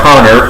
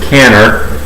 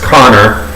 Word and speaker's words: Kanner: jew and and so for them they would pronounce k-a the way we pronounce c-o so it's conor you know and uh